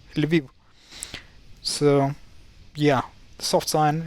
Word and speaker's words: Lviv: it's written like this, with this apostrophe that was supposed to indicate that the L should be the soft one. It's not Lviv, it's Lviv, Lviv.